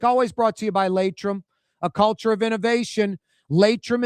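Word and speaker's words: Laitram: That segment on a Friday with Michael Heck from Greater New Orleans Inc., always brought to you by Latrim, a culture of innovation.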